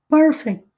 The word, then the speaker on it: perfect: perfeito perfeito perfect perfect aí fazer a sílaba tônica é a primeira é aqui no início Perth Perth R retroflexo por R façam perfect perfect pronunciado todas as letras mas tem de forma muito Sutil esse CT aqui no final perfeito perfeito se Wesley